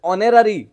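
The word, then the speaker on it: honorary: mister Reddy is days ऑनररी president of our society starting रु कहिथिली आपण को ऑनेस्ट कहिथिली ऑनरेबल कहिथिली सेहि बेली मन रखिथिबे ये उच्चारणटा आपणकर एच थिले मध्य उच्चारण और ऑनररी और आरंभ होउची तेणु मिस्टर रेड्डी इज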